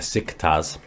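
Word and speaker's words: Beşiktaş: it but dick stars came to pronounce it their sick tas and next season we'll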